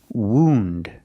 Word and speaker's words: wound: this is a wound use the long o sound like food and moon woo wound this is a wound